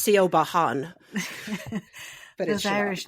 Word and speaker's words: Siobhan: We could talk a little bit how Siobhan is not spelled how you think it's spelled. Yes, Irish it's Siobhan.